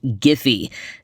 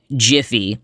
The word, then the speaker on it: Giphy: I was discussing is properly pronounced giphy not Jiffy like the campfire popcorn that I love this is something that